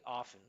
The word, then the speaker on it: often: So here I can see that like we would just take that off, often, often, just go often, right?